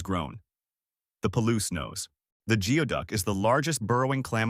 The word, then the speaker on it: geoduck: The name is pronounced geoduck.